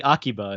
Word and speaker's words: Akiba: You could say Akiba if you want, for sure. That's what I've always heard people pronounce it as, but I try to do it correctly.